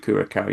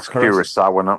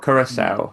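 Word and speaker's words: Curaçao: But you don't pronounce it Kurakau. You pronounce Kurasau. Kurasau.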